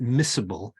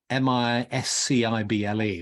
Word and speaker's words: miscible: And Druidry in this manifestation is very, I think the term, you pronounce it miscible, miscible, which is like, if you're